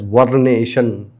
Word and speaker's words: vernation: It It has to be pronounced as vernation.